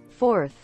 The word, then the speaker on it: fourth: Si ves la diferencia entre un número 4 y un número cuarto, tú dices 4, fourth. Y si tú dices el cuarto, tú dices fourth. Se escucha. Fourth. Fourth. Para nosotros suena raro, pero este es el fonema de la TH.